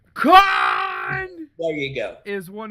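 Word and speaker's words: Kahn: you can't probably what I believe pronounced KH meline con there you go is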